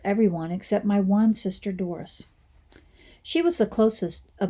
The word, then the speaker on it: Doris: Doris and I had kind of had a rocky relationship. Instead of pronouncing her name Doris, I pronounced it as Dorse, so that it would rhyme with horse.